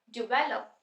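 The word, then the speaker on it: develop: तो ये बन जाएगा डिवेलप डिवेलप डिवेलप बोलते हम इसको डी को थोड़ा आराम से बोलेंगे स्ट्रेस यहां पे तो बैक साउंड को हम थोड़ा लाउडली बोलेंगे डिवेलप डिवेलप नेक्स्ट इज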